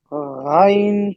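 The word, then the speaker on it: غ: Ghain Fatha Ha. Ghain Kasra Ghain, Hi. Fatha, Gha, Gha. Ghain Ghain sound like Fatha Gha. Gha. G-H-A. Ghain sound like Ghain G-H-A.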